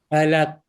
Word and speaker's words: Falaq: Falaq. Falaq. Q. Yes. You have to do a special sound at the end, right?